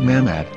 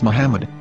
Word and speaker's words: Muhammad: According to Ben Yehuda's Hebrew English Dictionary, it is correctly pronounced as Muhammad, not Mamad. So how we're going to know for sure if it's pronounced as Muhammad, the Muslim prophet, or as Mamad, a random Hebrew word?